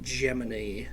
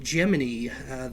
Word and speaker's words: Gemini: And yes, it is actually pronounced Gemini. I know the actual constellation or zodiacal sign is pronounced Gemini, but in terms of NASA's 2-man space missions, it was actually Gemini.